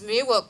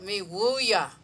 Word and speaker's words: Miwok: Our name is Miwok, but we pronounce it Miwuya, the people. But because everyone knows us Miwok, Miwuk, we're actually Miwuyas.